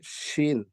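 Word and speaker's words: شين: উচ্চারণ করব scene scene scene তারপরের লেটারটা হবে শিন শিন লেটারটা আমরা উচ্চারণ করব জিহ্বার মাঝখানটা তার বরাবর ঘামের সাথে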